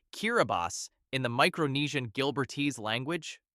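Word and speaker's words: Kiribati: The country of Kiraabati which is pronounced Kiraabas in the Micronian Gilbert language is an archipelago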